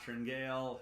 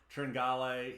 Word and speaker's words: Tringale: under own them tringale i found out how to say his name i heard that earlier on the thursday cast not tringail who knew tringale he's just another guy